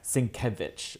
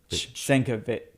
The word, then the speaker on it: Sienkiewicz: It's a Polish name. So it's a V-W kind of Yeah, Sienkiewicz, apparently. Sienkiewicz, yeah. Sienkiewicz. No, so CZ is ch. Sienkiewicz.